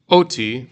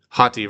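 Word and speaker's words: ὅτι: Okay, so this word here is not oti, but how would you pronounce it? Hati, right, because it has this rough breathing mark at the beginning.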